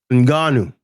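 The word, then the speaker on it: Ngannou: py Joshua and yeah uh how do you pronounce his name again um Francis nanu nanu nanu yes yeah that is an example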